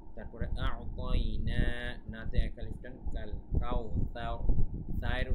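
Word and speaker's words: أَعْطَيْنَا: আ'তাইনা এখানে আইনটা কিন্তু এখানে কিন্তু আইনের উচ্চারণটা ভালোভাবে করবেন। তারপরে আ'তাইনা নাতে এক আলিফ টান, সায়ের উচ্চারণটা ঠিক মতো করবেন।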